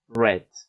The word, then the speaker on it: read: In the past, red. Okay? Like the color red.